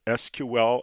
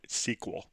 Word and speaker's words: SQL: language people call it both SQL and sequel and people like me kind of alternate using one or the other when you least expect it so SQL or sequel or both acceptable way to pronounce that acronym now what we have